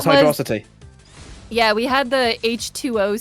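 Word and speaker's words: Hydrocity: desaris who says firstly it's hydrosity rhyming with atrocity not Hydro City secondly someone tell Huds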